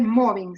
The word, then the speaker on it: mobbing: Ojo, no es moving, es moving. Si fuera moving, implicaría hacer una película, ¿saben? Para que sea acoso laboral es moving, se pronuncia con O, moving.